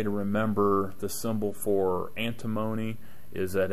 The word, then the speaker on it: antimony: remember the symbol for antimony is that it rhymes with alimony and if you have